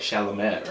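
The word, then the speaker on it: Chalamet: Charlemagne yes yes Timothy it's spelled weird though shalomat like like smell like shalamet right yeah um so moving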